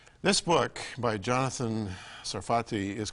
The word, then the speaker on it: Sarfati: the point of the book and am I pronouncing your name properly it's a safari sarti sarati sarfati in Hebrew Sarat is France right so sarti